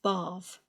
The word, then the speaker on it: barf: Barf as in upchuck, not barf as in what you get into to have a wash, an all-over wash or a soak and a relax.